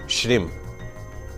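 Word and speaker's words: श्रीं: आप समझ लीजिएगा ओम श्रीम श्री के ऊपर बिंदी है मतलब म ओम श्रीम क्लिम श्रीम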